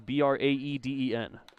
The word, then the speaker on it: Braeden: They are spelled differently, though. Lundberg is Braeden. Fouled back off himself, and it's 0-1. Orams is Brayden. Either way, still pronounced the same.